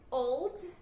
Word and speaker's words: old: Old, lembrando que não é o com som de u, não, é som do l mesmo, né?